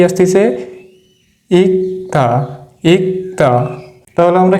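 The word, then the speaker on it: 읽다: কি অফ দা তাহলে এটার উচ্চারণ কি হবে ইক্তা ইক্তা এটা কিন্তু ইক হবে না এটার রুলস আছে এর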